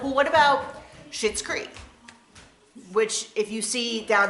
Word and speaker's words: Schitt's Creek: like well what about shits Creek which if you see down there in the title you can see that it's it's pronounced in one way but it's spelled another which is why and